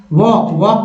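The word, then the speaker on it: walk: वॉक का मत यहाँ LK है, वॉक मीन्स होता है टहलना।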